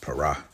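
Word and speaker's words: פרע: per P all right it's actually pronounced parah now it says here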